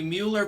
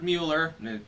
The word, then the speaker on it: Mueller: All right, everyone, the Mueller probe has now officially ended. That is, that Robert Mueller, technically Mueller, but I'm just going to call him Mueller because it rhymes with Bueller.